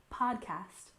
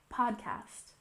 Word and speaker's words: podcast: again we have podcast remember the stress is on the first syllable podcast podcast for example their podcast covers